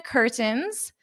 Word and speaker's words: curtains: Notice my pronunciation here. I'm going to use that glottle stop and not pronounce the t. That isn't a requirement for you, but that's how Americans pronounce this.